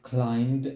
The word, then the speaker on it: climbed: explored an island I've exploded an island I've climbed a volcano I've climbed a volcano repeat now